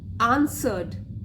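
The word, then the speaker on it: answered: Some आंसर्ड, are silent है ये वाला, आंसर्ड rose, some lotus, some jasmine, but Mahesh Das suggested that in his opinion it is the cotton flower।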